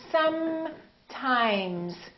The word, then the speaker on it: sometimes: fully pronounced the continuance so I want you to say sometimes sometimes don't say something that's a lot of people rush through the continuance and make them too short so really feel the